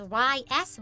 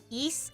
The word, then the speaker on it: Ys: We had it during one of the trails streams cuz I I used to always read it as Ys, but it's not. Isn't it east? Okay, ease.